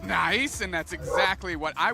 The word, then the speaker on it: NAIC: here am beyond excited of course niic is pronounced nice and that's exactly what I will be saying